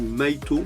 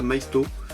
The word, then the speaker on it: Maisto: on va essayer, ou Maito, je sais pas comment vous prononcez. Moi je prononce ça Maisto. Je prononce toutes les lettres.